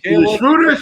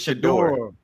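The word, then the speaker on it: Shedeur: Because you keep saying his name wrong. That's why he falling. Right. Shruder. How you say it? It's Shador. Shador. Shader. Shador. Kev.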